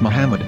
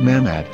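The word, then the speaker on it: מחמד: prophet or as mahmad with no a after the h according to ben yehuda's hebrew english dictionary it is correctly pronounced as muhammad not mahmad so how we're going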